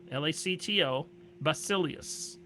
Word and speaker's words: Lactobacillus: Are you saying V or B? B is in boy, Oh.